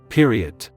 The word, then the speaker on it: Periodt: The deliberate misspelling and pronunciation, with a hard T at the end, give the word added emphasis and finality.